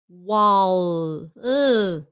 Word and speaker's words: wall: tally silly menardo minkunoi here is where it's hard when it's at the end oh your tongue has to touch your teeth wall wall don't when you do that you've stopped don't stop your tongue wall finish the word wall okay sell sell but